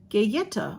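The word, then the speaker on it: Galleta: five dollars it's oh they tell you how to pronounce it gayetta oh I can't think of it I was I was good I was uh close is the Spanish word for cookie this palette contains a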